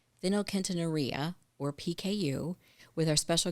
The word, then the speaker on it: phenylketonuria: So, did I butcher the name? I told you I was going to try. So, phenylketonuria. That's right. Yeah, phenylketonuria.